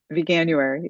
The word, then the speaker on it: Vanuary: I'm going to commit to doing Vanuary. Is that how you say it? Vanuary.